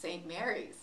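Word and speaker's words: St. Maries: Yes, first of all, it's pronounced St. Mary's.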